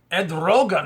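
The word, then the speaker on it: Erdoğan: uh president of Turkey Ed Rogan is how you say his name uh said not on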